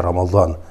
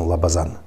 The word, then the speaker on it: Рамадан: Например, имя Рамадан мы произносим Лабазан.